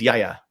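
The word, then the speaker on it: γιαγιά: No, it's Yaya. Yeah, that's how I did too. Yeah, it's a pronunciation. The emphasis is on the first syllable.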